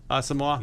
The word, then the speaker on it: Asamoah: Asamoah? Yes. That's how you pronounce that?